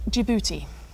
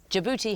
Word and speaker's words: Djibouti: Djibouti And why would that be? has a silent D at the beginning of it.